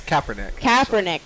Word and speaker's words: Kaepernick: It's Kaepernick.